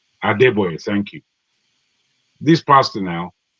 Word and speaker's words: Adeboye: I forget how you pronounce his name. Adeboye. Adeboye, thank you.